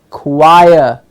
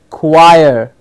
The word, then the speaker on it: choir: a choir you sing please remember ch oh I qui choir okay just like what we have done wire it's just a curve and before that choir choir what's a choir